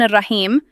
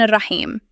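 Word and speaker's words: الرحيم: Here, generally, people make two common mistakes. They either replace the ha with ha and say Ar-Rahman Ar-Rahim, or instead of ha, they say kha and recite it as Ar-Rahman Ar-Rahim. So next time when you recite, make sure you recite it properly, Ar-Rahman Ar-Rahim.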